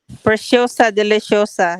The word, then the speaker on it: Preciosa Deliciosa: It's Preciosa Deliciosa is how you pronounce that. Preciosa Deliciosa.